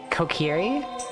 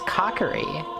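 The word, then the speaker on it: Kokiri: Uh Kieri. No, that was Cockeri. Get out of here. Like I just pronounced everything wrong.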